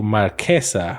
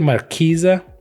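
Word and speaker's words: Marchesa: Invasion of Fiora 100% black transforms into Marqueesa Resolute Monarch. People say Markeisa. That's not right.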